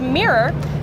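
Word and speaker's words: Mir:ror: But anyway, this is called the Mirror. Well, that's how I pronounce it. It's spelled M-I-R-R-O-R with a colon in between.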